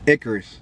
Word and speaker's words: Icarus: How do you pronounce it? Chale. The EP or the name? No, the name of the EP. Icarus.